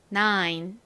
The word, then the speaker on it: nine: N은 니은 소리, I는 여기서 I 소리가 나고요. 그리고 N이 왔죠? 니은 받침. 가장 끝에 E는 떨거지처럼 보통 소리가 나지 않죠. 그러니까 nine이라는 발음이 됩니다. 9 따라해보세요. nine, nine.